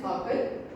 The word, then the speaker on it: hearken: The pronunciation of it is hakan.